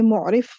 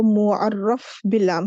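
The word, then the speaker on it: معرف باللام: यहां पर मैं आपको इसकी प्रोनंसिएशन मैंने लास्ट लेक्चर में मोफ में प्रोनाउंस करती रही हूं जो कि मेरी मिस्टेक है इसकी जो सही प्रोनंसिएशन है वो मुरफ बलाम है बाब तफल से ये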